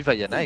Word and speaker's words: Vaiana: Et oui, Vaiana, exactement, tu le prononces bien pour une fois.